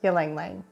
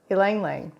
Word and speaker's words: Ylang Ylang: I'm here to tell you all about Ylang Ylang, and that's spelled Y-L-A-N-G, say it twice, Ylang Ylang or Ylang Ylang. What is Ylang Ylang?